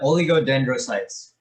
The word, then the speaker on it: oligodendrocytes: that what that on the screen could you pronounce that oh oligodendro yeah oligodendrocytes yeah oligodendrocytes and that produces the myelin sheath